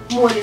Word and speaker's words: море: слова мы подобрались набор море ударение падает на о море сколько у нас